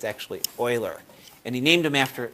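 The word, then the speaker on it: Euler: from the left a lot of times people pronounce his name as uler um but it's actually Oiler and he named him after he named it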